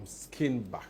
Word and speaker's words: Skinnebach: Did I pronounce that right? Yes, that's perfect. Is that where is that name from? Skinnebach.